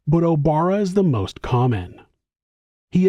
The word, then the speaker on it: Obara: It's noted that the Japanese character he used for his last name could be pronounced Obara, Ohara, and also Orihara, but Obara is the most common.